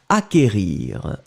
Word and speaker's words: acquérir: Donc, acquérir. Acquérir, le CQ, en fait, vous ne prononcez pas vraiment vous n'allez pas allonger le que, vous l'avez juste prononcé acquérir.